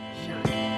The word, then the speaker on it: Zhané: Zhané, pronounced Zhané.